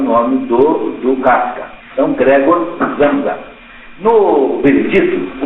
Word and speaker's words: Samsa: O nome dele é pronunciado com S em alemão, como se fosse Z, Samsa.